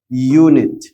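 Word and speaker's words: unit: جدع هنا هتاخد ا اوعى تقوللي ان اول ما تشوف اليو تقوللي لا دي متحرك اقوللك اه هو كحرف اه حرف متحرك لكن ليه صوتين صوت ساكن وصوت متحرك يونت هنا بقى يونيفرس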